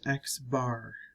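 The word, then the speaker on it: x̄: Notice that for sample we have x with a line over it pronounced x bar.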